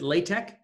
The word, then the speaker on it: LaTeX: First of all, what is this LaTeX? Now, I pronounce it LaTeX. LaTeX, I guess, is another way of saying it.